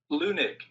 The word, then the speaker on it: Leunig: I found out I was saying Wahab's name wrong this whole time. Leunig.